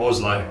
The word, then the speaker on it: Oslo: I'll say it properly this time, Oslo.